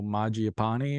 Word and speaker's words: Mangiapane: Um, I seen that one guy from the Flames sign no Mangiapane or whatever.